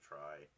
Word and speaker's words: trie: for it was real it was a play on the word tree um and i think he actually pronounced it tree but but change it to try but i don't remember